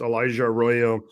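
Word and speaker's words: Elijah Arroyo: Sean Alexander completely like butchered his name, but it's Elijah Royo.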